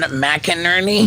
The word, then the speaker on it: McInerney: McInerney? Yep. Did I say it right? Yeah. Wow. Yeah, good job. Retention. It's like 2 names, Mac and Ernie.